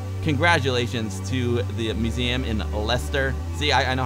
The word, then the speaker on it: Leicester: Congratulations to the museum in Leicester.